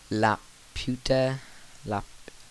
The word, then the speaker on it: Laputa: Now these closely resemble the robot of the film, and so let me just tab out Laputa, that's how you pronounce it.